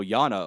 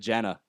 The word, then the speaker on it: Jana: Oh, Yana. Okay, so it's the Germanic J. That's pronounced Ya or Ya. Yeah, what'd you say? I said Jana.